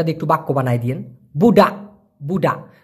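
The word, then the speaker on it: budak: বানায় দিয়েন বুডা বুডা তবে আমি যেমন উচ্চারণ করতেছি বুডাক্কা এভাবে কিন্তু ওরা উচ্চারণ করে না ক যে যেহেতু ছোট করে উচ্চারণ করে কেমন জানি মনে হয় বুডা বুডা মানে একটা অনেস্বরের মত ধাক্কা দেয় বুড়া বুডা তো ক টা স্পষ্ট না হওয়ার কারণে অনেকে মনে করে বলতেছে বুডা যাই হোক আপনি যেটা মনে করেন সঠিক উচ্চারণ হবে বুড়া তো বুডা মানে হচ্ছে পোলাপান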